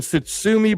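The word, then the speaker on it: Tszyu: Them Sitsumi brothers, that's how you pronounce it.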